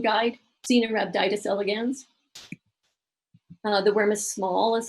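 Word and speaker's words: Caenorhabditis elegans: studies and long organisms so this is your pronunciation guide xena rubbed itis elegans another worm as small as I mentioned one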